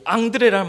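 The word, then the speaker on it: André: 이 앙드레라는 말은 성경에 나오는 베드로의 동생 예수님의 제자 안드레에서 이 이름을 따왔다고 합니다. 그러니까 안드레의 프랑스식 발음이 앙드레 이렇게 해가지고 했다고 합니다.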